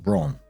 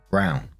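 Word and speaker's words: Braun: that Brown is pronounced Brun let me assure you it is not it's pronounced Brown it sounds exactly the same if somebody had that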